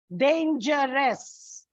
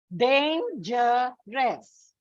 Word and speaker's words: dangerous: Dangerous. Dangerous. So it comes on the second syllable.